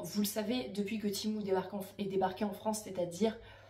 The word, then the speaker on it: Temu: c'est pas Temu, je ne sais quoi, c'est Temu, c'est la marque elle-même qui le dit, donc ça se prononce Temu.